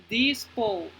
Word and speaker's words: dispose: Entonces, en este caso, la E no se pronuncia, la E es muda.